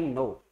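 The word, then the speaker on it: know: कर सकते हो आई नो आई नो यानि मैं जानता हूं तो आई नो का मतलब मैं जानता हूं है अब इसमें के साइलेंट रहता है साइलेंट क्यों रहता है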